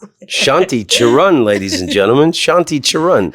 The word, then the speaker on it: Charan: Shanti Charan, ladies and gentlemen. Shanti Charan. Hello. Did I say it right? Like Charan to the store? Yeah, you said it right.